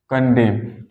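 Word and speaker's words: condemn: बाद नेक्स्ट हमारा आता है जैसे मैंने कहा कंडेम कंडम कंडम मीस होता है निंदा करना किसी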